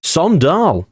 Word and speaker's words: AIK: for Sweden s s Sall Runners up there Sall it is Sall cuz I've had a look